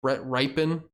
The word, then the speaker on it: Brett Rypien: And I believe Brett Rypien, that's how you pronounce his name, would slot in at quarterback.